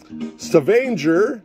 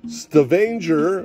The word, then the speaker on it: Stavanger: How do they pronounce it? I'm sorry. Stavanger, Norway. Stavanger, Norway.